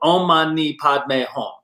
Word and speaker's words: Om Mani Padme Hum: very popular one's called Om Mani Padme Hum. And What was that? Say that again. Exactly. 6 syllables. Om Mani Padme Hum.